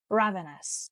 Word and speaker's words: ravenous: the first word is ravenous and the stress is on the first syllable ravenous and ravenous means extremely